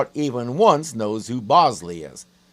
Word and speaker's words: Bosley: even once knows who Bosley is even though I know a person who used to consistently mispronounce it Bonzo and not on purpose you say the body